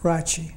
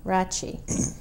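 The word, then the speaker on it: Rache: And how do you pronounce that? Rachi. Rachi.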